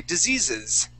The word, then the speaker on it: diseases: and then also with the word disease okay we say diseases diseases okay good yes now here because it ends with a z sound on that on that s we would pronounce that s sound we say diseases diseases diseases okay all right and